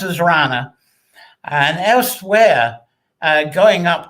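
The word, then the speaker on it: hrana: has an age in it so it's h r a n a so it's pronounced as rana and elsewhere uh going up to north up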